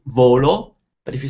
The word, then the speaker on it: volo: I fly, you'd say volo, but if you say I want, you'd say voglio. Completely different sounds. Volo, voglio. Volo is nice and flat, volo. Equal importance to both syllables, volo.